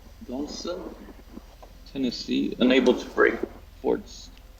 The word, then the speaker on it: Donelson: Grant Union forces at Fort how do you pronounce it? Donaldson. Donelson, Tennessee.